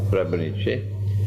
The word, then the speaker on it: Srebrenica: That's the correct pronunciation. Srebrenica.